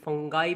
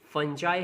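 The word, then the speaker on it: fungi: इसको कुछ बच्चे या कुछ लोग फंगाई भी पढ़ते हैं, बट एक्चुअल प्रोनाउंसिएशन इसका फंजाई है।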